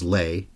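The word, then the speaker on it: Lai: being there and of course the composer Francis Lei L AI but pronounced Le according to the presenter at the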